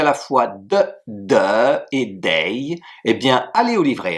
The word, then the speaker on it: 得: Et enfin, la troisième prononciation de ce caractère, c'est dei, D-E-I, troisième ton, qui veut dire dans ce cas-là, devoir, être obligé de.